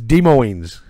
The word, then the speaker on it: Des Moines: Apparently you don't pronounce the S in it says Des Moines.